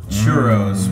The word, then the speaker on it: churro: I mean, you can never go wrong with the churro. Right? Gotta remember to roll those R's.